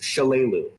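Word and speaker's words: Shalelu: know how to pronounce the elvin's name it's shalu okay I had it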